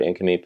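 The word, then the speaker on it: Nk'Mip: well that's the resort that's right there but iname is there you pronounced it absolutely properly too really yeah a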